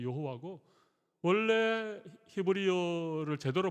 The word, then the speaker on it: 여호와: 좀 더 구체적으로 뭐 이게 아도나이의 모음을 이 하나님의 이름에 갖다 붙여서 발음을 못하게 했고, 그렇게 못하게 하는 걸 억지로 발음한 것이 여호와고, 원래 히브리어를 제대로 발음하면 야훼 쪽에 가깝다, 그런 얘기도 합니다.